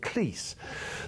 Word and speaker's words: Cleese: was that my mother whose name was cross with a sibilant s at the end always called it Cleese and as I said one satire twice if your parents can't agree on how to pronounce their common family name they're not going to agree on much else but I've always preferred Cleese and thank you for getting him right what's all this about